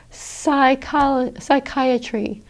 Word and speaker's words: psychiatry: With PS, again, the P is silent. You just pronounce it as an S. Psychiatry or psalm.